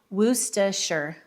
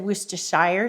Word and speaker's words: Worcestershire: I think they said it's pronounced Worcestershire sauce. I've always said Worcestershire sauce, and that's how I was corrected.